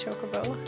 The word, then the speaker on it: chocobo: chocobo when i was a kid but it's chocobo now i know and i will say it